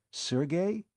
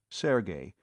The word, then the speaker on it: Sergey: Sergey? You mean Sergey Pvich? The fiend of Florence? She pronounced the name properly, Sergey, instead of Serge, as too many people were prone to do.